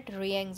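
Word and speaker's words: Reang: Okay, now as referred to the Rangins, it will be pronounced as Rangins.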